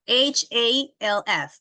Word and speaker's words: half: Yeah, many people get confused with the pronunciation. How do you pronounce this one, Diego? Half. Which In letter the, does it sound? the L. The L is the one that doesn't sound.